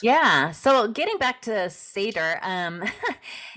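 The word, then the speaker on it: seiðr: So getting back to Seidr, it's pronounced I see it Seidr, which is a form of Norse shamanism where there's a seer and there's a certain structure.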